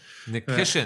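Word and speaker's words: Nikishin: There's no K at the end. Nikiskin.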